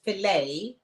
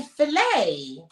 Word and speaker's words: filet: about the fact that the word filet you don't pronounce the tea so we're talking about